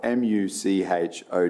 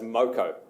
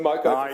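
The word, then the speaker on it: Muchow: It's spelled M U C H O W. How do you pronounce that road? Well, the family that is named after pronounces it as Moco.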